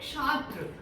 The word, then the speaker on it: छात्र: Next छात्र को क्या लिखेंगे, छात्र, क्ष डाल देंगे। क्या ये सही है, नहीं। क्या होता है, छात्र, छात्र, छात्र। छ की साउंड आ रही है, छात्र।